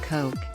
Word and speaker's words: Koch: Charles his older brother David Koch pronounced Koch became one of the